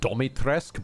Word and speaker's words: Dimitrescu: And in my world, it still is Dimitrescu. I know in the game she pronounces it Domitrescu, but there's no O in there. I feel like you just wanted an excuse to get the syllable Domi in there.